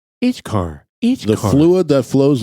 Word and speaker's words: ichor: Now we're going to have to do a pronunciation. Ichkar. The fluid that flows like blood in the veins of the gods. Whoa. Wow. All right. Icor.